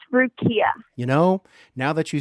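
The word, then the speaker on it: Rukiya: It's Rukia.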